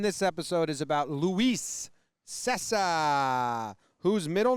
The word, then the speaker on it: Cessa: Cessa Cessa. is the pronunciation. That's how you pronounce it? Cessa.